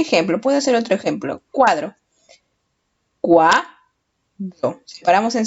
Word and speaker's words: cuadro: Cuadro. Cuadro. Separamos en sílabas. Cuadro. ¿Cuál es la sílaba que tiene la mayor fuerza de voz? Cuá. Cuadro. La sílaba que tiene la mayor fuerza de voz es cuá.